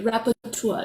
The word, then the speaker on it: rapporteur: released by the special, how do you say that, rapporteur? It's a French word, but it's special rapporteur, but it means a special reporter. Okay, rapporteur.